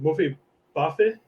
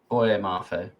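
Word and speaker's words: Boye Mafe: Is it Mofe Bafe? Boy, Mafe.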